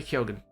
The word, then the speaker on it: Keoghan: He says it that way, and who better as the source? Across Ireland there are different pronunciations. I've said it wrong in the past, but yeah, that's how he says it, and now I'm